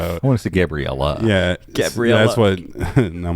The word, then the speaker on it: Gabriel: And my name If is you don't- pronounced Gabriel.